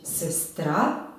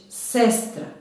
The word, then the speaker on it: sestra: Dakle, nećemo reći sestra, već sestra.